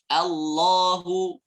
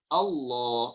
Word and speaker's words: Allah: ketika yang tebal karena kadang nanti Allah A-nya tipis tapi nanti kena efek tiba-tiba kita bacanya apa? Allah, Allah, O. Ya, terdengarnya O. Padahal yang benar adalah A. Allah.